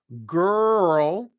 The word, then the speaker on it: girl: and how to pronounce girl and curl so both of those words are tricky because they both have that Angry Dog vowel sound um thank you